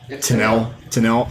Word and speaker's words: Tenille: Tenille.